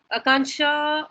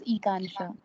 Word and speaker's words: Ekansha: Akansha, did I pronounce that right? Yeah, I read it as Ekansha. Ekansha. Okay, sorry about that, Ekansha.